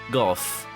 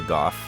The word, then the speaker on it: Gogh: will be back shortly apparently you can pronounce it either go or goth people from jolly old england tend to like to call it like to pronounce it goth yes vincent van gogh